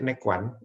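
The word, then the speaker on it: Neiguan: yinw nah fungsi dari titik nekwan bacanya nekwan Ya ini untuk meredakan nyeri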